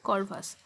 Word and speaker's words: Corvus: দেখো CORVUS, এটার pronunciation হচ্ছে করভাস। সহজ যোগ বিয়োগ করতে পারছে।